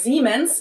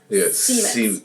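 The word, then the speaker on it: Siemens: Germans pronounce it with a voiced S, which would be a Z in English. Okay. Zmens. While English speakers pronounce it with a voiceless S. Seemens.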